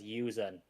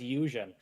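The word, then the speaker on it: Yuuzhan: I read the whole series as Yuzen. I've always called it Yuzan. I've always called it Yuzan. But it's um but it's Eusen.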